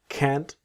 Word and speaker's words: can't: I'm really sorry, but I can't. So, cannot. Can't. Always that strong t of can't.